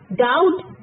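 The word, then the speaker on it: doubt: डाउट, बी is silent.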